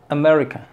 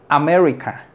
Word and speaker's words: America: aquí es e amica America America fíjate bien e America no es améric ni es America es America America la sílaba tónica es